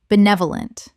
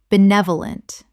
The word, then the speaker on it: benevolent: idiosyncratic idiosyncratic Word 269 benevolent common mispronunciation benevolent correct pronunciation benevolent Four syllables with the stress on the second, meaning well-meaning and kindly.